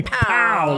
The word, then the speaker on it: Powell: Pow. Powell, like Kung Pao.